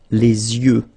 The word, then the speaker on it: les yeux: and then the plural, les yeux. Okay, you make this liaison between the two, les yeux. Okay, final X not pronounced.